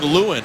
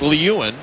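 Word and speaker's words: Lieuwen: pronunciation of the goaltender for Buffalo is Nathan Lewin. The NHL Guide and Record Book phonetically said it was Lewin, but I'm told that it is Lewin, so we want to get that correct and apologize for the misunderstanding.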